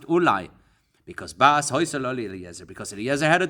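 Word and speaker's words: אולי: Eli Ksiv, Rashi there says, look, it says Eli when it's actually pronounced Ulai.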